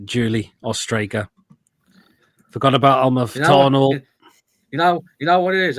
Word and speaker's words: Amalfitano: Amalfitano.